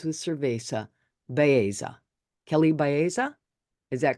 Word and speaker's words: Kelley Baeza: me see it let's see you said it rhymes with cesa Baya Kelly Baya is that correct Kelly yes it is Kelly